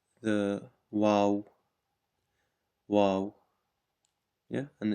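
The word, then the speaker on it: واو: letter down here and this is called the wow wow yeah and it's pronounced W so w a a w Wow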